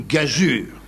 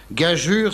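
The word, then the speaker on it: gageure: Bergerac au cinéma était une gazure attention les enfants att gajure s'écrit G a g e u R e oui vous vous en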